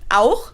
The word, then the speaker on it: auch: So in some words like auch, which means also, or Dach, which means roof, you pronounce it more in the back of your throat. Almost as if you had a piece of food stuck in there and you're trying to get it out.